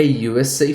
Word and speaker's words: USA: você vai ver que o u fala you então uma bandeira dos Estados Unidos fica a usa Flag a usa Flag entendeu